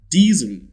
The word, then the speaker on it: diesel: The sound represented by that letter S is Z. Diesel.